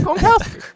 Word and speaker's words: Gronkowski: I say it wrong the first time I get it right. So I would have said Gronkowski. It's Gronkowski.